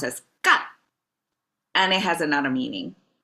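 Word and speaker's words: 干: And this is pronounced as gan.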